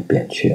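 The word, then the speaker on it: 扁鹊: 俗成了念扁鹊啊，其实我个人认为应该念偏鹊啊。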